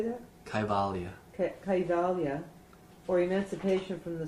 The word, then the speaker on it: Kaivalya: Kaivalya.